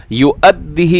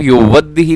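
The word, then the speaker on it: يؤده: رہا ہے، بقنطار یؤدیہ युअद्दिही, इसे आप युवद्दिही ना पड़ी गई, हाँ हमजा है, हमजा की वजह ज़बर है तो युअद्दिही, युअद्दिही।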